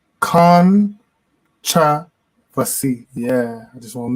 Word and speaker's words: Kontravasy: It's pronounced Kontravasy. Kontravasy.